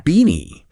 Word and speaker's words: BINI: b i n i it's pronounced just like beanie your favorite winter hat beanie exactly beanie okay